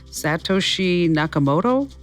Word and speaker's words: Satoshi Nakamoto: I don't know if I'm going to pronounce the guy's name right. Satoshi Nakamoto?